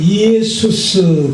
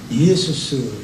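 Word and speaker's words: Ἰησοῦς: 정확한 발음 예수스 그렇게 말합니다. 정확한 발음이에요. 예수스.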